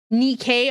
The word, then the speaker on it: NIKKE: Nikkei, okay, Nikkei. There we go. The good old Nikkei. I thought it was Nike because the goddess of Nike is the goddess